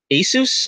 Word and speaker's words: Asus: It's an Asus, I guess is how you pronounce that, ASUS.